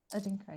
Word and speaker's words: Adinkra: um alphabet from Ghana how do we say that alphabet yeah adinkra yeah is it as adinkra okay from and Cheryl is